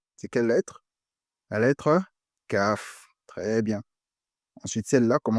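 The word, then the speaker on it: ك: On n'est pas confondre avec Kaf, Kaf.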